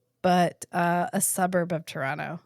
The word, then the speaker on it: Toronto: uh a suburb of Toronto H Toronto Toronto say it right there are no te's in Toronto where do we stay